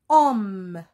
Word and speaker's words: homme: prêts alors le mot homme le mot homme bien il commence par un h mu est un autre